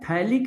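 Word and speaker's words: phthalic: Sorry इसको बोला जाता है थैलिक एनहाइड्राइड। थैलिक एनहाइड्राइड पीए साइलेंट है।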